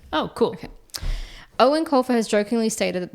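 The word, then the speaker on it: Eoin: It's pronounced like the English version, Owen. Oh, cool. Okay. Owen Colfer has jokingly stated that the movie would be finished 2 years after he died.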